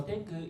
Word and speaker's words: Xcoo: So tenku indicates the Xcoo is the company name. X indicates number 10, so that's why the Xcoo pronounce it as a tenku.